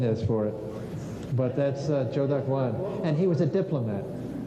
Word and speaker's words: Zhou Daguan: Zhou Daguan. I don't know what the pinyin is for it, but that's Zhou Daguan.